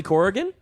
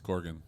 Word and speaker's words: Corgan: So how many syllables are you saying there? Corrigan? Okay, take that middle one out. Corrigan? Yeah. There's not an I in my right. last name? No, it's Corgan.